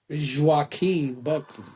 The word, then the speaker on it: Joaquin Buckley: Joaquin Buckley.